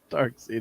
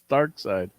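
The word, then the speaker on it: Darkseid: like it's dark seed look it's not dark seed it's dark side he's like look at how it's spelled i'm like do you think kirby's gonna call a guy dark seed it's dark side you i think but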